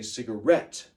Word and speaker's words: cigarette: to make it rhyme in this poem we say cigarette so the rhyming word is BET rhet cigarette that way it rhymes with Tibet do you understand okay